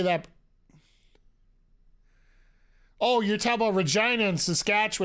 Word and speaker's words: Regina: oh you're talking about Regina and saskatch it's reeg Regina Saskatchewan the place that rhymes with fun biggest that's the biggest